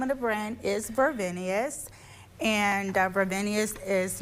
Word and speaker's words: Vervenius: The name of the brand is Vervenius and Vervenius is not only a fashion brand